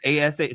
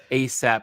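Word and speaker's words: A$AP: ASA. Should I be saying ASAP? Say ASAP Rocky, but okay.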